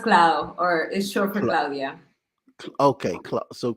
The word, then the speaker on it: Claude: oh good oh good it's pronounced cloud or is okay Club